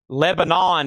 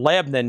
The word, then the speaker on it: Lebanon: Lebanon if you're from out of town. Lebanon if you're local. one syllable. Lebanon southern accent pronunciation that is about a half hour east of Nashville.